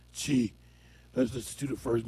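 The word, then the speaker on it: Qi: the flower tea called Chi. It's spelled with a Q-I, but it's pronounced Chi.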